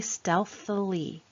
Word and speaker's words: stealthily: Stealthily. Let's sound it out by the syllables. Stealth, ill-e.